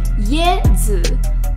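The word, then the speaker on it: 椰子: Fun fact, in Chinese, coconut is pronounced as Ye Zi, another reason why fans love Ye so much.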